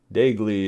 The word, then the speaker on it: Daigle: Daigle is the way you pronounce his Roger's name. I guess I said Daigle, probably. But anyway, Daigle is the correct pronunciation.